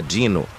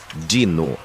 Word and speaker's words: Dino: Ele apertou os olhos para o papel e disse: "Contratada, Dino". Ele pronunciou dino. Na verdade é dino eu disse. Tipo dinossauro. Ele me olhou feio.